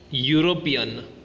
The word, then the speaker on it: European: Now let's pronounce the following: uniform, European, unicorn. All these words begins with the phonic sound u, yu, which is a consonant sound.